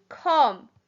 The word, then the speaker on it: come: Number 2, come. C-O-M-E. The E is silent and the sounds like an Number 3, said.